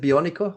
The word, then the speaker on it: bionico: And is it bionico?